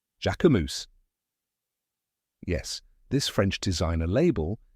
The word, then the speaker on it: Jacquemus: like Jac in French like the name Jack but with a soft zh sound at the beginning the second part is